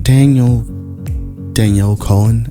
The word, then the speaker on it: Danielle Cohn: So we're going to be talking about Danielle Cohn, I guess. Yeah, that's how you pronounce her name.